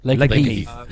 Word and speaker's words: Lakenheath: Did I pronounce that right? Lakenheath.